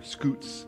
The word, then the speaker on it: scouts: ties to the church scouts or scoots as it's often pronounced over there are frequently part of